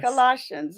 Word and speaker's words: Colossians: Colossians. It's just the pronunciation.